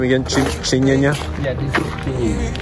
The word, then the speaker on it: Kinyinya: Kinyinya? Yeah, this is Kinyinya.